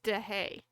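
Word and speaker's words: Deshaies: But he posted a pronunciation guide on his Twitter, and correct pronunciation, it's DeHay.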